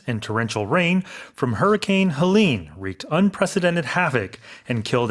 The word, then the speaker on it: Helene: 그럼 헬렌이 아니라 헬린 It's 이렇게 Helene, 발음하는군요. yes, as the name. The emphasis is on the second syllable as opposed to Helen.